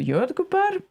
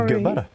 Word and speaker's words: jordgubbar: I will never learn how to intonate on this language. So that wasn't the intonation thing. It was a pronunciation thing. It is also the intonation. Jordgubbar. Every foreigner does that. Like super emphasizes the last part.